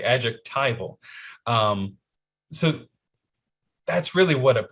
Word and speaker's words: adjectival: There was a comment that told us we were pronouncing it wrong. It's adjectival, Jonathan.